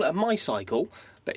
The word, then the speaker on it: MYCLE: It's out of I think you call it a MYCLE, but it's spelt M-Y-C-L-E, so I'm going to go with MYCLE because I think it's funnier.